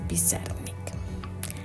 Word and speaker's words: Pizarnik: Y al igual que muchas familias migrantes, su apellido se castellanizó y en lugar de ser Pizarnik sufrió esta modificación y es así como lo pronunciamos el día de hoy, que es Pizarnik.